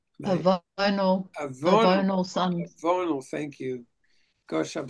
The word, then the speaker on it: Avonal: Avalon Sons. Avonal Sons. Avonal, thank you. Gosh, I'm so grateful for you guys teaching me some pronunciation here. Avonal Sons may act as planetary judges prior to